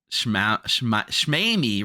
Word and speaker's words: Schmeamy: Uh Schmeamy rhymes with Amy.